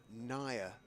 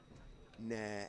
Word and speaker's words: Nair: Right, now gentlemen, there's a a message on the stream about the pronunciation of it should be apparently, says an Indian listener, Nair, N-I-R-E, rather than Nair, N-A-I-R.